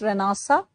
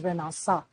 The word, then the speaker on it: Renaissance: struggles with spellings, try to remember the correct pronunciation, it's Renaissance. But when you have to remember the spelling, it's Renaissance. That's how I used to like remember. Renaissance, pronounced as Renaissance.